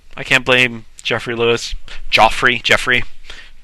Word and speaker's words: Geoffrey: Jeffrey. It's spelled Joffrey.